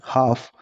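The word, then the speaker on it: half: हाफ हाफ में L silent रहा है।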